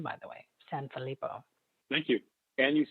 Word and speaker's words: Sanfilippo: Like somebody like Sanfilippo, which is a great last name, by the way, Sanfilippo.